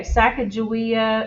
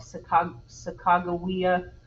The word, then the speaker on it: Sacagawea: does doesn't it okay sacagawea is how i say this name there's all different pronunciations of it that i think a lot of people call it sacagawea um so who knows i don't know sacagawea